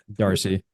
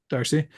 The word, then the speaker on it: Darcy: Emma Darcy. Darcy, Yeah.